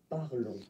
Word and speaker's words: parlons: Okay, remember final nous S is pronounced, okay, and then this O N together, they will give you the sound on, okay? Gross. Parlons.